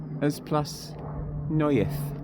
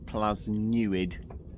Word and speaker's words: Plas Newydd: I'm going to try pronounce it. Plas Newydd.